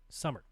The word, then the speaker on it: Summer: meet you in Dallas last name is pronounced like the season summer damn it summer